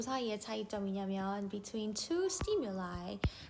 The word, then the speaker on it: stimuli: 근데 뭐랑 뭐 사이의 차이점이냐면 between two stimuli, 두 가지의 자극 사이에서의 차이점. 요거는 stimuli 아니고 lie라고 읽는다?